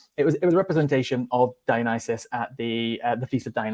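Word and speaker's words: Dionysus: I'm sorry Co I'm going to have to cor correct you on your pronunciation because I think somebody mentioned it in the comments but it's dianis the god of Li sorry sorry to correct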